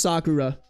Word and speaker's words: Sakura: And I know it's pronounced Sakura. I just butchered that twice. That's rough. Especially because Sakura is a Japanese word.